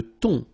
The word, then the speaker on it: thon: Le thon, remember, H here is not pronounced.